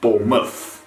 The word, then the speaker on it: Bournemouth: want to watch it when the word mouth is added at the end of a word of a location it turns into muff which is muff bournemouth another county we're going